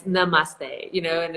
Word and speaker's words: namaste: girls and lululemons and the teacher that can't pronounce the word namaste and it's namaste you know and it's